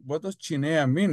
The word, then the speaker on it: Chinea: My name is Chinea. It's spelled Chinea.